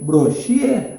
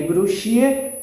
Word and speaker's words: Brochier: Brochier. Se escreve Brochier, mas a pronúncia é Brochier. Brochier, porque eles eram franceses.